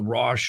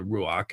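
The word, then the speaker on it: רוח: It is believed, and if I zoom out here, see, notice right here, this is called the Rosh or the Ruach, and it is pronounced Rosh by some people, which means the embodiment of the spirit.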